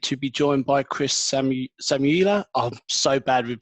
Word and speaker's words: Samiullah: This week, I'm delighted to be joined by Chris Samiullah. I'm so bad with pronunciations. Have I got that correct? Very close, yeah. I'm Chris Samiullah. Samiullah, perfect.